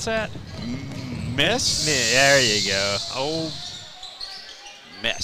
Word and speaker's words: Ole Miss: Old Miss. Strong on the M.